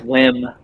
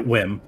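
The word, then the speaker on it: Whim: It was Wim, like W-H-I-M. Yeah, Wim. Yeah. No E.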